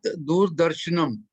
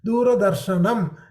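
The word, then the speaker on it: दूरदर्शनम्: There is an akara, r plus a. So you have to pronounce the a. Where is A, sir? R, half a plus a. Makes it ra, right? So when you're pronouncing, it is du, ra, da, r, sha, na, m.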